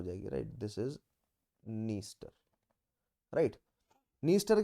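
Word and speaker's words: Dniester: तो Danube, डेनिस्टर डेनिस्टर नहीं होगा actually, नीस्टर, नीपर and Danube are all opening in black सी, ठीक है।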